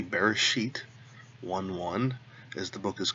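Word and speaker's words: בראשית: it this way so to begin with Bereshit that's the first word here we've got the bait with the dog X in it so we've got that buzz sound we're going to go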